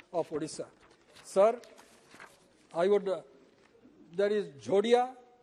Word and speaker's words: Jhodia: Sir, there is Jodia, the spelling is Jhodia or Jodia. When we pronounce it, it is same, or Jadia.